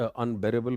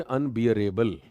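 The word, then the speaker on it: unbearable: That is अनबेरेबल. अनबेरेबल. अनबेरेबल, इट्स नॉट अनबियरेबल.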